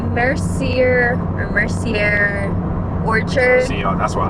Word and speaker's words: Mercier: to mess it up I think it's Mercier it's it's spelled the same way as like Laura Mercier the makeup brand but anyway it's really